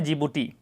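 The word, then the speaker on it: Djibouti: जिबूती की राजधानी है जिबूती सिटी, इसमें लिखा था डी, तो डी साइलेंट हो जाता है, पढ़ाता है जिबूटी।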